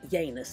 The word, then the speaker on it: Janus: is of course named after the Roman God Janus or yanus as actually is pronounced who is a doubleface god with one